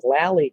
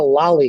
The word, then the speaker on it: lally: column is called a lally column and as you can see i have two now lally column is spelled l-a-l-l-y it's not a lolli column like a lollipop it's a lally column and that lally column